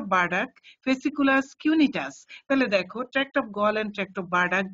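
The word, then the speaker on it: Burdach: ফেসিকুলাস গ্রেসিলিস of bird অনেকে দেখছি বুডাক কি কিসব কথাবার্তা বলে এগুলি বলবে না অফ বার্ডাক ফেসিকুলাস কিউনিটাস তাহলে দেখো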